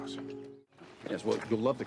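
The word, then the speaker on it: Strauss: 1947 Dr Oppenheimer an honor Mr St it's pronounced St yes well you love the can the position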